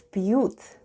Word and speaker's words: пьют: Let's spell the word пьют. The first sound is P, then we have soft sign, and soft sign makes the preceding letter sound soft. So we have P, then we have U and T. And altogether it's пьют.